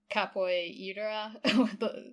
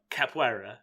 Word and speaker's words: capoeira: was when she's like I know I'm gonna just pronounce this wrong capoyira the like martial art technique or something oh capoeira yeah yeah yeah uh that